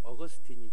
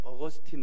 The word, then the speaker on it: 어거스틴: 팀 발음으로는 아우구스티노 쓰고 이것을 영어로 발음하면 이제 어거스틴이 됩니다 오늘은 제가 바로 마이가 좀 쉽게 어거스틴 으로 말하겠습니다 예 2